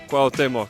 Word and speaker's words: Cuauhtémoc: Cuauhtémoc.